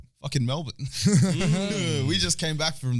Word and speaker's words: Melbourne: oh people are like okay say mel and then say bin or bun or something and then